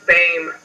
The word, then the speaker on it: Boehm: That's actually pronounced Bame.